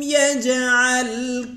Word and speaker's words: يجعل: يجي এখানে قلقلة হবে জিম قلقلة হরফ জিমকে ধাক্কা দিয়ে উচ্চারণ করব يجعل ألم يجعل ألم يجعل